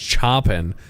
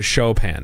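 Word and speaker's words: Chopin: classical musician chopen right is not pronounced chopen but shopen shopen yeah okay okay okay yeah yeah yeah it's it's not choppen yeah that one is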